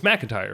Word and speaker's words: McIntyre: It's McIntyre, right?